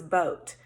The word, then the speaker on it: boat: word have two so this is a vowel team that we've not learned yet but we will and it says oh so that word is boat so that doesn't follow